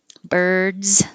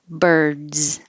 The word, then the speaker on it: birds: can say it often birds with a z if it's plural it looks like an s but it sounds like a z birds so your voice is already on for the vowel er and then a d so keep it on for the z birds you should feel vibration the whole time the b the e